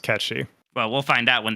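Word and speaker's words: Cait Sith: Yeah, well, because that pronunciation goes off the fact that he's fucking Scottish in Advent Children.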